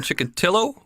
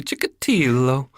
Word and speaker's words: Chikatilo: chickadee hello a lot of people call him Chikatilo but it's actually chickity though and I found that out through listening to